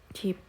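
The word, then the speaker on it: 집: gampang ya yang pertama contohnya cip ini bukan dibaca Jip ya teman-teman ya tapi dibacanya Cip Cip Cip ini dibacanya itu kalau dia di akhir konsonan itu dibacanya P nah lanjut kita kasih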